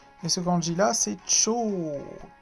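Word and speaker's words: 超: Et ce kanji là, c'est Cho. Cho, ça se prononce, ça veut dire super.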